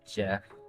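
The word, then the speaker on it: GEF: Uh GF pronounced Jeff is a set of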